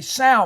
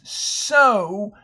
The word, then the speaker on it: sow: OW usually says ow, so that'd be sow, but this is sow, like sow flowers.